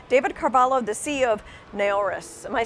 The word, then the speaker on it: Naoris: with me today David Carvalho the see of NARAS am I saying it right first you are